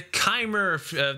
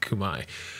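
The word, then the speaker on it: Khmer: yep uh next we have the kubai the kymer that's how i used to pronounce it until i learned it's pronounced kumai oh my god this is a huge one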